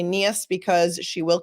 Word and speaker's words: Niehus: And I say Niehus because she will correct the pronunciation of her last name several times during the course of this testimony.